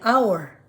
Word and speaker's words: hour: Okay, una po salita ay hour. We say 2 hours, 3 hours. Kadalasan po kasi binibigkas natin ng R. Ang tama pong pagbigkas ay hours. Hour. 1 hour, 2 hours. Hindi po R.